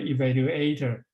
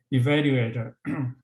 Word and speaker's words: evaluator: Okay, and also I heard one or two speakers say evaluator. It should be evaluate, accent on second syllable, evaluator.